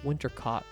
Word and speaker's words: Winter Cot: No, that's how you spell it. But the way she says it makes it rhymes with hot, like winter cot.